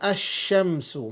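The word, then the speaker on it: الشمس: And then you have the sun letters where the alif and lam is not pronounced. You can have ash-shamsu, mathalan.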